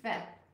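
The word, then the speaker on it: פ: Pe has to have the P. Otherwise he's Fe. And he makes an F sound instead.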